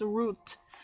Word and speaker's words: route: road route to its route in English you can actually see the route or route both of pronunciations are perfectly correct on January 8th to